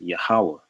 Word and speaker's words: Yahweh: And when you look at Hebrew language, this is the Tetragrammaton, and it's pronounced Yahweh, right?